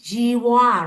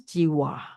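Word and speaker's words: jivhā: So I will pronounce Jiwa according to Burmese. Burmese, they pronounce the H as aspiration. Aspiration means you just open the mouth like, ha.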